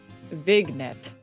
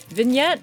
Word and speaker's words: vignette: How do you say this word? Vignet. I don't think that's correct. I don't think that's correct. I forgot she's illiterate. I can read the words. Whether or not I pronounce it correctly is a different story. Okay. Vignette. vignette. Oh, is the G silent?